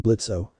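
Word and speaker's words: Blitzø: it play hi there I'm blitzo the O is silent and I'm the founder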